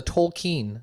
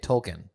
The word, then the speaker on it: Tolkien: of the token the tolkien the token black family if you say it correctly you can say token you don't you don't